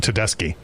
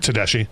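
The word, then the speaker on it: Tedeschi: Well, I also mispronounced uh Susan Tedeski for the first 20 years that I was a fan. What is it? I It's Susan Tedeski. Yeah. How did you say it? Teddashi.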